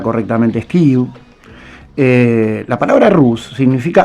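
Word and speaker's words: Kyiv: Eh, de hecho, la Rus de Kiev, Kiev, la capital Ucrania pronunciada correctamente es KW.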